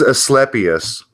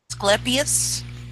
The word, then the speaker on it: Asclepias: sorry is it pronounced Asclepius well whether you want to use a hard C or not semantics sweetheart well it's